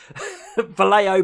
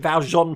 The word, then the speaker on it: Vallejo: got 5 bottles of Vallejo paints. Look, I said it right. I was about to call it Valjean paint again.